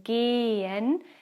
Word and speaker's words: gehen: vowel as here in gehen the h itself is not pronounced it just makes the vowel sound a bit longer e and here you